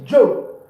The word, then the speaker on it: je: Pronoun I in French is Joe. Joe.